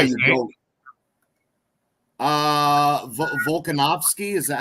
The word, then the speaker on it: Volkanovski: Volkanovski, is that how you pronounce it?